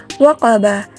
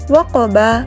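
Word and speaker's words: وقب: kita wakafkan dengan sengaja, sehingga waqaba menjadi waqab ketika kita membacanya. Dan pantulannya harus diberatkan karena ia qalqalah kubra, seperti yang telah Ibu baca tadi dengan pembacaannya yaitu waqab.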